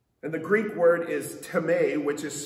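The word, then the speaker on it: τιμή: the greek word is tame which is spelled time in our english language but tame is how it's pronounced in the greek and it means to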